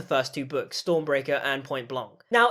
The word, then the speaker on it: Point Blanc: everybody pronounced point blanc everybody just kept saying point blank like no that's not how it's pronounced even characters like alan blunt say point blank and that really bugs me because i'm pretty sure there's a moment in the book where alan blunt corrects alex who calls it point blank and then alan blanc says no alex it's pronounced point blanc as in the french word for white anyway i just wanted